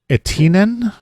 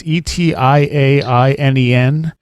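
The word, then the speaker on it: etiäinen: Etinen or something like that. It's Etiainen.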